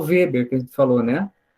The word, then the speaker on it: Weber: Então, por exemplo, o Weber, que a gente falou, né? De pronuncia Weber, mas é Weber, tá?